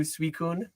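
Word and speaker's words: Suicune: I I've I've I've crossed over to Suicun the proper way, but I'm uh I'm probably not changing on Rayquaza.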